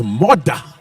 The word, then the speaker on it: Murdah: Which, if you're from Scotland, it's all right, it's Murdah. Murdah. But in English, it's badly spelled.